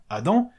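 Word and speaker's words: אדם: nom du premier homme Adam qui en hébreu se prononce Adam Adam Adam la Torah reprend donc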